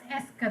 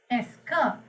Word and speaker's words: est-ce que: If you put the word "esker," this is pronounced as "esker." The entire part is pronounced as "esker."